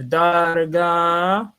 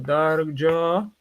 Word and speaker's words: Darga: All right, you have darga, right, or darjo, right? Depending on one's pronunciation.